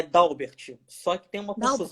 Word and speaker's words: Dalbert: uber né que nem nada né então é dalbert só que tem uma caso muito baixo o